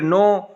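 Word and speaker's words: know: फिर नो, के जब आ जाए एन से पहले, जैसे नॉलेज में भी आता है, तो नो में के साइलेंट है।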